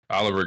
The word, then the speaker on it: Olvr: You still people say Oliver, right? That's how you pronounce it.